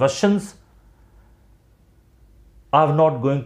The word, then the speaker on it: Russia: ठीक है, ये नहीं होता इसका प्रोनाउंसिएशन, ये रसियन, ये नहीं होता, रशियन। अगर ये कंट्री का नाम होता तो इसका प्रोनाउंसिएशन होता रशिया, शा। इसका प्रोनाउंसिएशन ये नहीं होता रसिया।